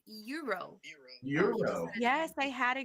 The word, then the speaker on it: gyro: I'm thinking I think I used to pronounce it as gyro too I would be like can I have gyro sandwich but it is Euro I just asked I